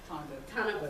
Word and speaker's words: Tanabu: dedication and support to the I can never pronounce it, Tanabu. Is that? Tanabu.